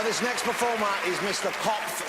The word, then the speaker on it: Kopf: Kopf, spelled K-O-P-F, but I've been told not to pronounce the letter P.